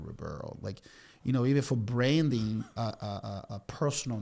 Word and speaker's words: Ribeiro: And then when we rebranded Ribeiro, see, even you can't say my name, Ribeiro.